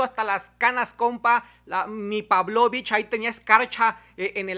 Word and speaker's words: Pavlovich: humanos infelices ambos y la pávlovich así se pronunciaba pávlovich tuve que practicarlo 20 veces antes de decirlo pávlovich casi desde ahí potter